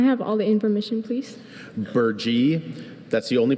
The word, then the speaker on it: burgee: Burgee, that's the only pronunciation.